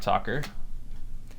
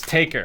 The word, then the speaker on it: Talker: get an under clock talker taker I was saying talker sorry I'm so used to the like the decode talker X code talker and it's taker I've been saying it wrong the whole time under clock taker I